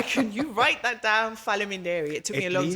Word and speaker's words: Faleminderit: At least they taught you the real word of Faleminderit, right?